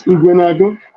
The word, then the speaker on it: Ekweremadu: Yes, Ekweremadus.